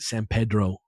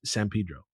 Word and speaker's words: San Pedro: LA that it's that's not really what it would sound like, but it's LA. It's like if you ask people about it, there's definitely like grounds for like maybe you should just pronounce it the Spanish way, right?